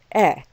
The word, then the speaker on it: et: for and in french e so even though the word e is followed by a word that begins with a vowel we still don't pronounce the t e is e okay